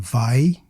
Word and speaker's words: vai: acts as a glide, like in vai, which is just one syllable.